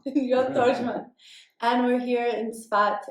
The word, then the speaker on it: Tordjman: You can pronounce it. Shalom, Yoel Tordjman. Yoel Tordjman.